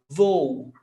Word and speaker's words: voo: Voo, meu voo para Los Angeles é 3 horas da tarde. Voo, two syllables. Voo, voo, two syllables. Hiato, no accent mark.